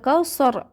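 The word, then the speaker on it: كوثر: কাল কাউসার এভাবে বলতে হবে। অনেকে আমরা সার বলি, সার হবে না, কাল কাউসার এভাবে উচ্চারণ করব।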